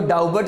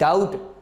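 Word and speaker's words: doubt: For example डाउट, बी के बाद टी आया हुआ है, आप इसको डाउबट नहीं पढ़ते, क्या पढ़ते हैं इसको जी, डाउट।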